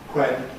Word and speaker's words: when: Again, the spelling tells us that words spelled wh used to have a pronunciation with a voiceless onset. So, it used to be why quen which somewhere somewhere. Nowadays we say why when which somewhere this is a fairly recent change something like 200 years